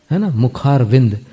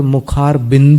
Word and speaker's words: मुखारविंद: है साहित्य में मुखारविंद मुखारविंद कुछ लोग उच्चारण में त्रुटि करते हुए मुखारविंद बोलते हैं मुखारविंद शब्द मुक्त रूपी